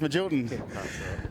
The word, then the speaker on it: Magilton: Down in the pits with Andrew Magilton, I think they pronounce it, is that correct? Yes, that's I always said Magleton, but I've been told it's Magilton.